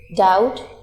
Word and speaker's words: doubt: here H is silent doubt here B is silent sward here W is